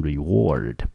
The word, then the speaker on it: reward: 那 reserve 的意思呢就是储备或者是保存的意思。那我们在 reserve 这个字呢，在前面再加上 con, 英文我们念成 conserve, 它的意思就是保存保护，跟 preserve 呢有一点点类似。好，所以呢这个字呢特别要注意到了，它有几个相似的字，同学不妨利用这个机会一起把它记一记。好，接下来我们来看一下第四个选项，这个字呢念成 reward。